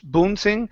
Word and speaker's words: bouncing: to the word bouncing instead of Bon bouncing it's an ow sound bow B bouncing bounce